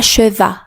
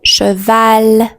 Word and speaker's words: cheval: Par exemple, cheval, ce n'est pas cheval, c'est cheval ou parc.